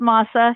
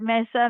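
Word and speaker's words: MSSA: Namasa it's pronounced masa. You you might hear it messa messa I don't know what masa you can remember from from what tortillas are made from um that's how the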